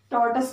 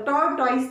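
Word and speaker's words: tortoise: Question number third पे आते हैं, व्हाट हैपेंड टू द टॉर्टस, टॉर्टस को क्या हुआ था। टॉर्टॉइस नहीं बोलते हैं, टॉर्टस सही प्रोनाउंस करने का तरीका है टॉर्टस।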